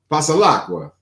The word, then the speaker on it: Pasalacqua: You are, especially if you use both hands, like Pasalacqua.